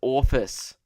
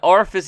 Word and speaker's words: orifice: prancing / jo is pew got I was pronouncing orifice as office so an orifice is like a hole in your body like